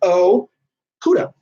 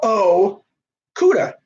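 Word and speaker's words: Okudah: you know I do guys in case you don't know how to say his name it's o khuda you know for my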